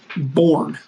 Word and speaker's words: Bourne: Bourne. As in Jason.